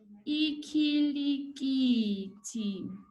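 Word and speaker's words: ikhilikithi: Cricket in Zulu is ikilikiti.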